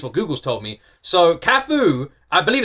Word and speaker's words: KAF: I just Googled what virtual artist was and KAF came up and it said pronounced KAF as in with a U.